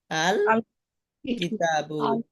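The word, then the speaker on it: الكتاب: এই 15টি হরফের শুরুতে আলিফ লাম যুক্ত হলে লাম হরফটি স্পষ্ট ও আলাদা উচ্চারিত হয়। যেমন কিতাবুন এর শুরুতে আল লাগাইলে কি হবে? আল কিতাবু। আলিফ লামের লামটা উচ্চারণ স্পষ্ট এবং আলাদা হবে। এই শব্দ তো কিতাবুন থেকে শব্দ শুরু, কিন্তু এর আগে লামটা আলাদা স্পষ্ট উচ্চারণ হবে।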